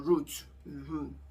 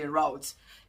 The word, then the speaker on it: route: the same route or route The UK people, they say routes, Americans say routes, to drive them to work to and fro.